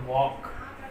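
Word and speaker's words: walk: और स्पेशली जो आपका वर्ड है वॉक, इसको वाल्क कहते हैं। वाल्क नहीं होता, ये वॉक है। एल साइलेंट रहेगा।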